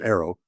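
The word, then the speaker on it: AARO: But it's it's a challenging situation and it's interesting and the the people that uh are involved on the uh a it's pronounced arrow.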